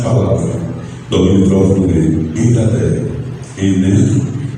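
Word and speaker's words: ἐγκράτεια: A palavra traduzida por temperança, domínio próprio, o autocontrole, nesse livro, nessa carta, ela é pronunciada enkrateia.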